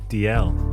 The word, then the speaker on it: Dalziel: DL. DL. It's a hard name to intuitively know how to pronounce from the way it's written.